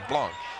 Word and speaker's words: Blanc: the last name and it is the French pronunciation which is Blanc okay I would have